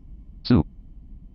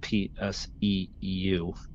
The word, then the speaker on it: PSEU: For example, SU. NVDA calls this SU, and it's PSEU.